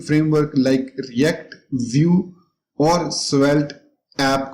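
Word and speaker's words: Svelte: अब ये मुझे नहीं पता इसको कैसे प्रोनाउंस करते हैं, स्वेल्टी करते हैं या स्वेली करते हैं, खैर मैं इसको चेक कर लेता हूँ। इसको डबल क्लिक करके मैं यहाँ पर स्पीच करूंगा और स्टार्ट स्पीकिंग पे क्लिक करूंगा तो इसने प्रोनाउंस किया स्वेल्ट।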